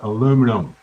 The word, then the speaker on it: aluminum: And I just talked to In Canada and in the US we call it aluminum.